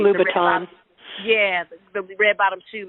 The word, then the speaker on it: Louboutin: It's Louboutin.